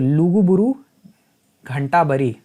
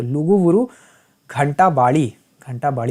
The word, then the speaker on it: लुगुबुरु घंटाबाड़ी: तो लुगुबुरु घंटाबरी, अच्छा प्रोनाउंसिएशन नहीं करेंगे तो बता दीजिएगा। तो लुगुबुरु घंटाबाड़ी होना चाहिए, हाँ।